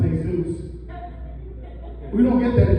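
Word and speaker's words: Jesús: This is another first grader, and it's actually pronounced Hey-Zeus.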